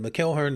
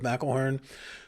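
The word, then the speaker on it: McElhearn: It said Mckelhern instead of Melharn. To be fair, the Irish do pronounce it Mckelhern and not Melharn.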